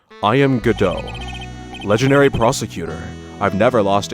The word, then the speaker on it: Godot: But it should be mentioned that the Japanese anime says Godo, and the English anime says Godot.